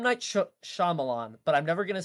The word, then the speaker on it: Shyamalan: me up I can't even what it's a Shyamalan yeah it's M Night Shyamalan but I'm never gonna say his name right